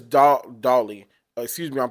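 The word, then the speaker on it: Dowdle: with their young guy Rico Dowdy or Dooley. I think it's Dolly.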